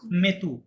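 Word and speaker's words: mis: নিয়ম হলে এমএটিটি পুচু মেতু এরকম হতো, রাইট? কিন্তু এই মেতু হবে না, এটা কি হবে তাহলে? এটা হবে হচ্ছে এমআইএস মি। এটা কি হবে? মেথের মি হবে, লাস্টের এস কিন্তু সাইলেন্ট।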